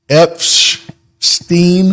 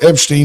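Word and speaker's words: Epshteyn: s t y n Epstein it's almost like Epstein but it's not almost but there's an sh in there so his name is Boris Epstein he's a top advisor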